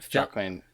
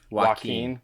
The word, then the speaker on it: Joaquin: know the performance by Jacqueline Phoenix how are we pronouncing that wow Joaquin yeah would you say